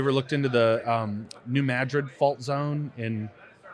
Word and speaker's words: New Madrid: looked into the um New Madrid fault Zone in New Madrid yeah in uh I think they pronounce it Madrid really where's that at